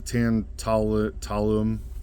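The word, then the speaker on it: tantalum: Now that's the word I'm trying to pronounce. It's a tan talum capacitor.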